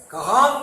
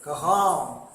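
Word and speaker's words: कहाँ: இது எப்படி உச்சரிக்க வேண்டும்? கஹாம். கஹாங்க இன்னும் சொல்லக்கூடாது, கஹாம் சொல்லணும்.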